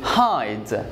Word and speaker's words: hide: alphabet which is I so I'm going to say hide and the E is going to be silent got that so this